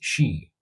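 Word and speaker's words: sídhe: Offerings of food and drink were left outside villages and fields to appease fairies known as she, spelled s i d hs she, and other spirits.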